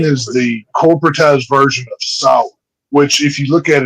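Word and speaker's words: Samhain: Halloween is the corporatized version of sour, which if you look at it, it's spelled Sam Hayne.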